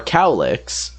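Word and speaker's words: Cowlek: peeps challenge these are cowlicks more like spelt like cow lek but they pronounce it cow lick because it's cow and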